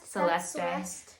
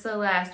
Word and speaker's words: Celeste: I've heard some people pronounce it Celeste. This is Celeste.